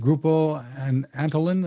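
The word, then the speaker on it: Grupo Antolin: company you're working with is uh is it pronounced grupo and antolin or i'm not sure how it's connected oh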